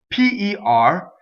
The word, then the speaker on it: per: P-E-R is closed. A, per. Okay, it doesn't rhyme with the fruit, pear.